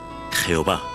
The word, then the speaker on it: Jehová: frecuente del nombre divino el tetra drama ton que en español se pronuncia jehová este nombre aparece